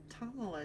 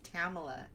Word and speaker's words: Tamila: ago and i'm like it's tamala tomlin but then my son was like no that's tamila so sorry if i